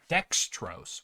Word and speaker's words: dextrose: the I mean it rhymes with gross so that means it's a sugar like right dextrose one second I gotta